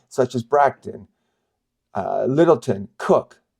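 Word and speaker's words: Coke: as Bron uh Littleton cook Koch if you were pronounce it as written Blackstone maand holsworth and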